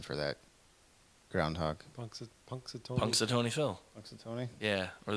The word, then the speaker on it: Punxsutawney: But What is the correct pronunciation for that groundhog? Punxsutawney.